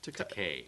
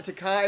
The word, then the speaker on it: Takei: And it's George Takei. Takei. Is that how you say it? I had to research that. I didn't know if it was Takai or Takei or what.